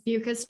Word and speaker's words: Beukes: It's Beukes, rhymes with mucus.